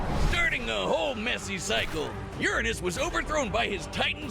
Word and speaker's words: Uranus: a whole messy cycle Uranus was overthrown by his Titan son no dude it's not Uranus it actually is pronounced Uranus okay stop trying to clean